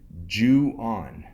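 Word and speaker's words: Ju-On: know who knows could be good number 26 jewan The Grudge now Jew is spelled j u-o n uh in the brackets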